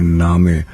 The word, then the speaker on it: Name: लिखा जाता है और उसको कहते हैं नामे। तो अगर यानी लिखा ऐसे ही जाता है, जी हाँ, NAME। जी हाँ, मगर उसको हम प्रोनाउंस अलग तरीके से करते हैं, जैसे नेम को नामे।